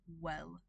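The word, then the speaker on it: oel: So O E L is pronounced well well and wet and etc etc.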